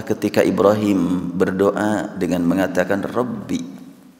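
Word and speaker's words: رَبِّ: Wa idz qala Ibrahimu, ingatlah ketika Ibrahim berdoa dengan mengatakan Rabbi. Kalimat Rabbi dibaca bi, tidak Rabbu.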